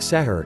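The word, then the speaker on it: suhur: the eating patterns change to sahur pronounced setter in Pakistan an iftar it is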